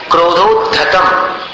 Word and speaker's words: क्रोधोद्धतं: क्रोधोद्धतम इसका उच्चारण म के समान।